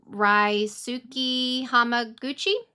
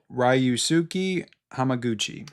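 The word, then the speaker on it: Ryusuke Hamaguchi: Ryuki Hamaguchi. Ryusuki Hamaguchi.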